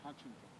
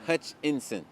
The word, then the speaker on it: Hutchinson: John Hutchington. Hutchington. Huntington. Hutching. Like Huntington? Like Huntington? Huntington. Hunch. And Sam Boston. John Hutchinson. Tongue twister, bro. Hutchinson. I-N-S-O-N. Hutchinson.